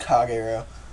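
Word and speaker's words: Kagero: you want I'm Prett it's pronounced kago um are you I'm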